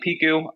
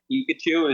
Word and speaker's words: Piku: and and Main vocalist that's how you proun your last name yep I was always too afraid to pronounce it people call me like Pikachu is the typical one uh but yeah hey